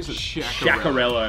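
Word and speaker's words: Sciaccarello: So how do you pronounce that variety? Sciacarello.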